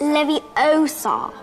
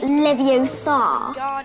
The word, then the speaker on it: Leviosa: them standing beside you you're saying it wrong it's leviosa not leviosa you do it if